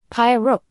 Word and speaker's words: pieróg: Pieróg.